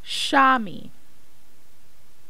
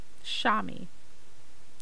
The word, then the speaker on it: chamois: however it's on here it says it's pronounced Shami Shami sh a - m ee yeah so this is